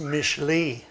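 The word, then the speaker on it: משלי: then you have proverbs proverbs is pronounced mishlee in hebrew and it begins with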